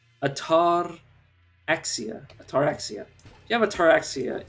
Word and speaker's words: ataraxia: Which, obviously, if you have, God, how do you pronounce this? Atorexa? Ataraxia.